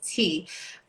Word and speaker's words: chi: And when you hear the words like chi and properly pronounced as tea or meridians, you think energy and like this non tangible phenomena that happens, right?